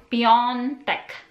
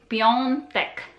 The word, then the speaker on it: piątek: So A with this tail is ong, ong. So Friday is piątek, piątek, piątek, piątek.